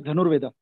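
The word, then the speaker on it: धनुर्वेद: And when you see the history in India, with Dhanurveda, how do you pronounce it properly? The Art of Archery. There's this book, Dhanurveda. It is Dhanurveda.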